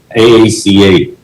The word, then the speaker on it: AACA: asia archipelago cruise alliance aaca which we pronounce like car my name is